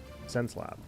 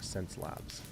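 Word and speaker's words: Xencelabs: Okay, so it's spelled a little strange. Sense Lab. That's how you pronounce it. Or Sense Labs.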